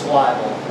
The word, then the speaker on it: Wybel: It's Wybel. Wybel. Yes, sir. Can you spell that for our viewing audience?